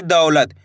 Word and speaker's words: दौलत: दौलत। इसी तरीके से पढ़ना आपको दौलत, ऐसे नहीं पढ़ना दौलत।